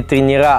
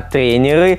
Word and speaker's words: тренеры: Говорить правильно не тренера, а тренеры.